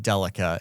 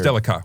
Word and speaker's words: Delica: That's I think it's delica with a hard C.